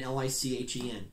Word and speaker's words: lichen: it yes i know it looks like it's spelled like licking l-i-c-h-e-n it's a lichen lichens grow all over